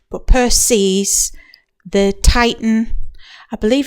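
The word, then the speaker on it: Perses: myths she married Peres I can never say his name right because I always end up wanting to say percus and he's somebody else but Peres the Titan I believe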